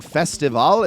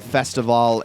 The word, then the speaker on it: Festivale: The reason I'm saying Festivale is because it's the same cadence and pronunciation for what this event is based on, which is Carnival.